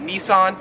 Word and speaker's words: Nissan: company right here so we would pronounce this in America as Nissan however here in Australia it is pronounced Nissan number 12 is this